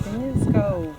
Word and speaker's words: Kynance Cove: And We are at Kynance Cove. Kynance Cove. I was saying it wrong, everyone, for the longest time.